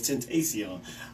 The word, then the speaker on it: Tentacion: So I'm reading it here. It says Tentacion, but it's Tentacion.